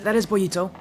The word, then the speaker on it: Bollito: And by the way, Club Hats, that is Bollito. Actually Spanish for pancake. Oh, nice. I asked if it was the Spanish pronunciation. It is. It's Spanish for pancake.